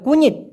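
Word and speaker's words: kunyit: মূলত কুনিট, দেখেন কুনিট উচ্চারণটা হবে কুনিট, মানে হচ্ছে হলুদ।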